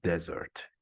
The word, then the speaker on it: desert: word with one s it's confusing in pronunciation this is dessert while the other is Desert yeah Europe Europe an